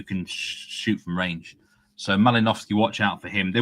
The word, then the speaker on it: Malinowski: exceptionally greedy, then Mal Mal, how do we pronounce his name? Malikovski. Mal Malinowski.